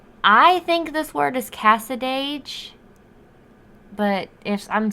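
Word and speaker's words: Cassadaga: it said someone called cassadage is that how you am i saying it right yeah okay i mean that's how i would say it um that called cassadage where mayberry meets the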